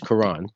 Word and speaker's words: Koran: and people don't know yet your name is Quran alright yeah yep and I love it and wash spell it differently burn and wish what's the whole